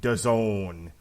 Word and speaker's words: DAZN: Well, he's going to be showing up on DAZN. It rhymes with calzone.